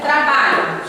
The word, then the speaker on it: trabalho: Olha aqui, trabalho. Chame a palavra trabalho. Trabalho, trabalho. Você demora mais no bar. Então, o bar aqui é a sílaba tônica.